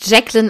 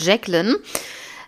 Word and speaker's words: Jacqueline: leri ja höchstwahrscheinlich im englisch wird es wahrscheinlich jacqueln ausgesprochen also nenne ich sie jetzt einfach mal jacqueln sie war 1968 16